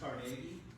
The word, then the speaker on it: Carnegie: Uh, if you listen to NPR, it's pronounced Carnegie. I don't know why they do it like that, but the Carnegie family.